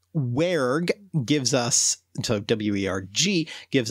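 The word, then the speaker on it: wergh: W-E-R-G-H. You know, listeners, you miss out by not seeing the expression that Mark just made trying to pronounce that word. it's an aspirated G, so werg.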